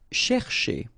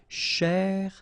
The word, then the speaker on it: chercher: So chercher, chercher, okay? And the difficulty normally is, well, also in the repetition of ch, okay?